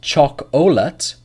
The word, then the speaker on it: chocolate: Set two, listen closely, chocolate, temperature. So actually in set two, there is a silent syllable. Not choc-olate or temp-ur-cha.